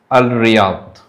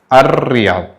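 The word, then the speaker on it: الرياض: But when we pronounce this one, we will pronounce is R. Ar Riyadh. It will be double R. You have to pinch the R and you have to make it Ar Riyadh, and the L will go silent.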